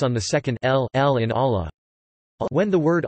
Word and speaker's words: Allah: the second ll in Allah when the word Allah is preceded by the vowel a fast or the vowel you damped then the lam is pronounced in a distinct heavy manner would tack him this